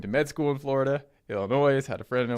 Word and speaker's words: Illinois: Illinois, had a friend in Illinois. I know the S is silent.